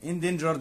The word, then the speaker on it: endangered: وعندي هنا كلمة endangered معناها معرض للخطر او الانقراض. endangered endangered، وشفت حرف الجي جي بعدها ايه اهي نطقناها جي.